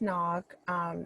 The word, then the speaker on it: Ngoc: Hi everyone, my name is Nog. If you have a hard time pronouncing my name, it's like you were to knock on the door.